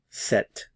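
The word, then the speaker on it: sept: c c c c set set remember the P represents no sound here set set the H is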